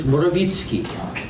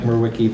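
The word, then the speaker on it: Morawiecki: In Polish, it's Morawicki. Most of the people here know me as Merwicki, though.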